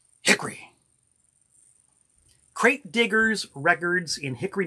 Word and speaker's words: Hickory: Got this one in the town of Hickory, North Carolina, which the people in Concord tell me you got to say it like this. Hickory.